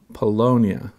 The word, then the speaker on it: Paulownia: And now the new one is pronounced Paulownia wood, but it's spelled Paulownia.